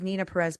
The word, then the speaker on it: Neena Perez: I'm I'm everywhere but my name is Nina Perez but it's spelled NE n a p r EZ and you can go